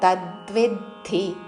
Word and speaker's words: తద్విద్ధి: క్షేత్రక్షేత్రజ్ఞ సంయోగాత్ తద్విద్ధి భరతర్షభ తా మీద ద్వి మీద ఆఘాత తద్విద్ధి భరతర్షభ మహాప్రాణాక్షము భ చివరిలో భ హ్రస్వము భరతర్షభ తద్విద్ధి భరతర్షభ.